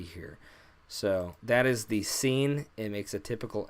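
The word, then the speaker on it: سين: n but for now I'm gonna write it out like this because then you know it's it's pronounced seen so now we have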